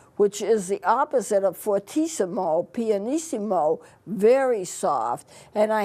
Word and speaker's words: fortissimo: still and that's called fortissimo that's the way it's pronounced it's an Italian word which means very loud